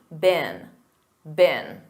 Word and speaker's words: been: And remember that pronunciation. Repeat after me, been.